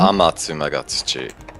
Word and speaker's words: Amatsu Magatsuchi: How do you spell that beast again? How do you say it? Amatsu Magatsuchi.